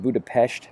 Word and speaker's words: Budapest: is the Hungarian flag pronounced Budapest by the locals but we're not Hungarian so it's not that big of a deal right so this long